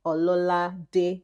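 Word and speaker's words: Ololade: But that's not your name is pronounced. It's pronounced ol. Leave that one. Leave that one. But at least the o l o l a d e. Ola day.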